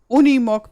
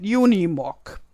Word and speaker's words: Unimog: I say Unimog because this is the German word way how to spell it. And as it is a German brand, I say it in the German way.